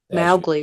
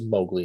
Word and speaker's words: Mowgli: man's name is Mowgli Mowgi really as you stated earlier well it is Mowgli in this film Mowgi No, Mowgli.